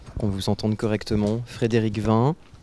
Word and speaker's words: Frédérick Vin: Frédéric Vin, si on prononce bien comme cela, mais absolument.